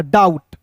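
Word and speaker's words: doubt: ड उसके बाद देखिए बी को सबसे पहले यहां पे साइलेंट करना है और ओ यू है तो इसका उच्चारण औ के रूप में करेंगे और टी का ट हो जाएगा डाउट।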